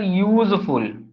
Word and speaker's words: useful: You can say, sir, useful, isn't it? So it also start with Ya now. That means consonant sound.